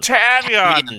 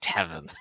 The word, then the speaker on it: Tavian: Tavian does Yes, that. that's how you pronounce it. There we go. I was gonna start saying Tevin.